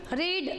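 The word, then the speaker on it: read: जैसे गेट गोट गोट होता है वैसे हिट रीड रेड रेड होता है। स्पेलिंग एक है लेकिन प्रोनंसिएशन अलग है।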